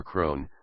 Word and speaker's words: Croghan: Croghan claimed by inheritance Krogan is an Irish place name pronounced in America as cron or Crone based on common misspellings